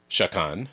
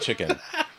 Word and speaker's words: Chakan: shakan shakan sh shaen we don't know how to pronounce this chicken if anybody knows the real it's not chicken it's not chicken don't call me chicken we've been calling it shakan and it's like shakon and the extension of